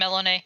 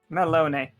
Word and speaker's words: Melinoë: So, you are looking like you have the key in hand, and just no, actually, I think it would be Melinoë, right? No, Mm-hmm. Melinoë. You're good. Melinoë.